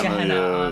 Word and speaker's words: Gehenna: So is it Gehenna? Is that how you pronounce it? Gehenna, yeah.